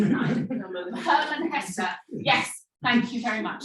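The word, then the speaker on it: Hermann Hesse: Steppenwolf by I think you pronounced it more correctly than I did. Herman Hesse.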